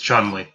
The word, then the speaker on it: Chun-Li: It's Chun-Li. Come on. There's that pronunciation again.